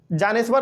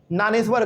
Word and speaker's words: ज्ञानेश्वर: पहला जानेश्वर लिखा हुआ है लेकिन हम लोग इनको ज्ञानेश्वर कहते हैं। ठीक है ना? ध्यान रखना इस बात को। इसमें जो जे है वो साइलेंट रहता है। यहां पे जानेश्वर जरूर लिखा हुआ है लेकिन हम लोग इसको ज्ञानेश्वर पढ़ते हैं।